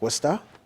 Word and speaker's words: Worcester: I worked in Worcester, pronounced Worcester.